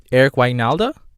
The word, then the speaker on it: Wynalda: goal by Eric Wynalda Eric Wynalda yeah that's how you say his name but before I start